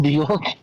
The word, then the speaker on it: Björk: Björk.